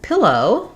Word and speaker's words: pillow: So same first syllable stress, same vowels in the beginning, and then just thinking of that O being nice and round and then kind of closing as we finish the diphthong, pillow.